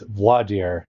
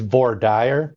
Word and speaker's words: voir dire: It's voir dire is the way I learned it. However, I do have a penchant toward leaning to the Texas pronunciation I've heard, which is voir dire.